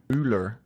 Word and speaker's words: Müller: How are you supposed to say it? Müller. Müller. Like a U.